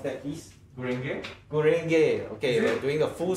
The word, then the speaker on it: Gurenge: How do you pronounce that piece? Gurenge.